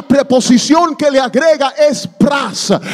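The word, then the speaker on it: πρός: que le agrega es pras. Se deletrea P-R-O-S, pero se pronuncia pras, pras cartereo.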